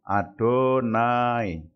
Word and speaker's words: YHWH: Lalu nama yang kedua YHWH, dibacanya Adonai.